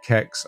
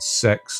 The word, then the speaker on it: CeX: don't know the naming some people call it C I've heard kex I've heard sex I think it was on their TV ad that they did for a while they pronounced it sex but that just doesn't sound right um so those stores